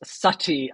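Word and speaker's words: Satti: The Greek lettering is pronounced Sati.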